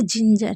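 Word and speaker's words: ginger: जैसे जिंजर। जिंजर में जी के बाद आई है।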